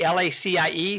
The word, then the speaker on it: LaCie: One of the best hard drives out there is LaCie, L-A-C-I-E. Some people pronounce it LaCie.